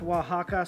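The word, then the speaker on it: Oaxaca: to go down with some Waka cheese pronounced Waka spelled aoxa or something like that funny spelling but great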